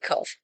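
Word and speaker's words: קוף: And when we do write the QU, it sounds like qu, and it sounds like a KW. And that is not how kof sounds.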